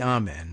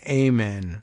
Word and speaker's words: amen: just be saying amen, which is, I think, mispronounced. It should be amen, really, but Christian Americans prefer that Americanized amen version instead.